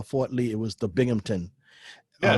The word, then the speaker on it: Binghamton: binghamton really really yeah everybody thinks southampton bing hampton is binghamton one more funny you